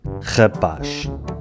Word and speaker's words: rapaz: E agora vamos ver se os nova-iorquinos sabem pronunciar palavras portuguesas ou se também precisam de lições de pronúncia. Rapaz.